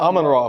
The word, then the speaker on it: Amon-Ra: Amon-Ra, fool.